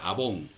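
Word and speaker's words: עָוֹן: El segundo concepto de falta es la falta que conlleva efectivamente la pena de muerte, que se pronuncia abón.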